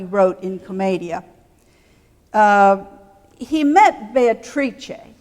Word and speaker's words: Beatrice: in Comedia he met Beatrice we'll use the Italian pronunciation of that person's name today as that's what we're we're talking about he met Beatrice he tells us when